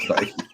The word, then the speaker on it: Feige: know that it because it's a an official fayette mcu product they're not gonna put crap on the screen they don't do that i can't stand you with your pronunciation of kind of fight feige sorry i'll correct it this one time